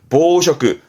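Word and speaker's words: 紡織: 방직이라 하면 실을 뽑아서 이제 천을 짜내는 걸 방직이라 하는데 발음은 보쇼크, 보쇼크. 이때 쇼크 때문에 얘를 언급을 했네요.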